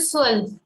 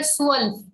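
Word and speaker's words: zwölf: is said as l 12 is called swell over o we have um lord soul the z is having s sound so we say swell so else now from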